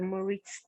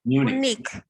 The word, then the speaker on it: Munich: Don't get the Munich. Sorry, Munich. Sorry. No, it's not Munich. It's Munich. Munich. Okay. Yes. Munich. Okay, I just written down MU. The pronunciation is MEU, then NIK. That's the pronunciation, right?